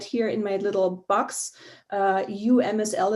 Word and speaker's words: UMSL: UMSL is pronounced UMSL, the University of Missouri, St.